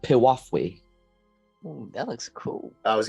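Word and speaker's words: piwafwi: cloak all right here you go that is pronounced piwafui that looks cool I was gonna say that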